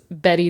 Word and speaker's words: Bette: But Betty Davis.